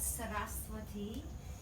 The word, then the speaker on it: Saraswati: each other okay me there is no W in Sanskrit so we see it written a lot saraswati etc right but it's a bomb and it's a soft Wow like a VW which is why they'll